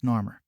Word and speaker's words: Narmer: hammer or coming, and these symbols can be pronounced as well as Narmer or Emranar, except that the custom was to pronounce Narmer, and the name means angry catfish.